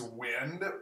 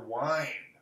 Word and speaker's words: wind: Is wind or wind. Wind up this plane and watch it fly in the wind. They are the same. I mean, they're spelled the same.